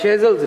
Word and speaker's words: Shazeal: As always, for your wonderful insight into Shezel's life. Shezel's life. Shezel नहीं होता है, Shezel होता है.